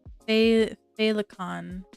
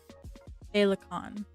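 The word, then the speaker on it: féileacán: Felt like it is Irish for the word butterfly, pronounced phalicon or phalicon.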